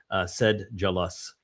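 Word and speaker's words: sedulous: They tell you said jealous uh as the uh is the proper pronunciation. Said jealous. Um you know what's of course is interesting. It's said which would be sed but then jaw. How did you get the jaw out of ul?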